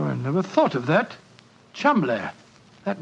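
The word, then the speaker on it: Cholmondeley: Being an American, he had no reason to know that the name Chumli is in no way pronounced the way it is spelled. Oh, Joe, I never thought of that. Chumlay.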